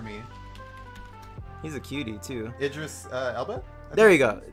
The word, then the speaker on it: Idris: and the voice actor who played as him Idis talk about a match made in heaven for me he's a cutie too Idris uh El there you go yeah I pronounced